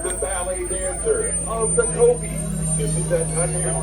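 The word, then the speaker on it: kopje: Speaking of habitat, we're rolling by the Kobe. That J is silent. Kobe is a Dutch word. It represents the flat grasslands of Africa, Kobe.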